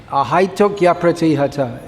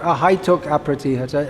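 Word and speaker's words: ahaitukyapratihatā: Ahaitukya pratihata. It's not ahaituk apratihata, it's ahaitukya pratihata. There's a y sound comes.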